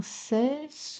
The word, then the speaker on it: cesse: Sans cesse je remue, bien prononcer le E de cesse, comme tout à l'heure, hante.